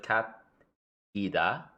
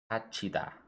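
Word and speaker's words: 갇히다: For example, So cat, so instead of cat ida, kachida.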